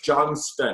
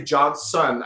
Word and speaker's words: Johnston: So we brought our really good friend, you get this, Jeb Johnston, back on. People actually mess up on Jeb's name. There's a T in there. It's Johnston. Well, when people say Johnson, I know you get pissed I know we make off.